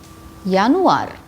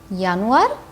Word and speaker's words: Januar: monart means the month yanuar yanwar january as we have learned in the alphabets the j of english is yacht in german and it's pronounced like y like year february february maths march